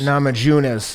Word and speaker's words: Namajunas: nama james navajo uh janus uh am i pronouncing that right nama junos namajunas yeah nama junas she she set it up